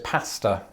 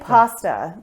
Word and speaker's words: pasta: with clean hair uh i pronounce this pasta and i say pasta and that's what we